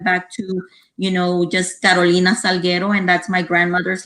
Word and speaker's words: Carolina: gonna roll their r's i know they're not gonna pronounce it the way i pronounce it but um at least try at least have the respect for my name it's like me i'm carolina i'm not carolina i'm